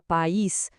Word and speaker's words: país: A palavra pais sem acento é um ditongo, uma sílaba só. Agora basta colocar um acento nesse i e i pronto. A palavra vira país com duas sílabas.